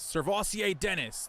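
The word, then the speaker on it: Sirvocea Dennis: Well, here he is, Servassier Dennis.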